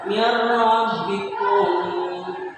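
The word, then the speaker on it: min rabbikum: Di sini adalah huruf ra, berarti membacanya mirrabbikum ya, mirrabbikum.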